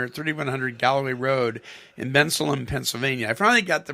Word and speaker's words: Bensalem: And this is going to be at the Christian Life Center at 3100 Galloway Road in Bensalem, Pennsylvania. I finally got the pronunciation right.